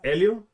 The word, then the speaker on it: Helio: Yeah, it's Helio. Okay. And obviously in Spanish you don't you don't pronounce the H.